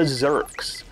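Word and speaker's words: Zurks: our first enemies the zerks um I remember their name quite easily because it rhymes with jerks they look like head crabs from uh Half-Life 2.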